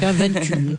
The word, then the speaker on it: Venture: Vous êtes la directrice du Venture Lab, donc on la prononce à la liégeoise, donc Venture.